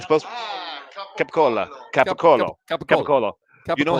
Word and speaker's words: capicola: cola capicola you know in italy it's an oat at the end so it's capicola that's right it's capicola you know how it's pronounced in the united states in our area gabagool um mozzarella so